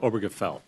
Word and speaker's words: Obergefell: Obergefell.